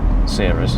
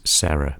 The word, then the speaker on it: Sera: Now the most likely version is Sera, because I believe that's how the Japanese pronounce it.